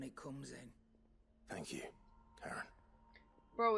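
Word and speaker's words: Charon: Thank you, Karen. Bro, it's it's pronounced Karen, but looks like Shiron.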